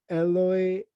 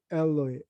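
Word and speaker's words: Eloi: the lle okay but if you go to the mark it's more like the aramaic pronunciation alloy alloy okay so there is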